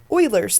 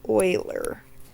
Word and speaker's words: Euler: theorem of chapter twelve Oilers theorem so we pronounce it like Euler Euler theorem says the number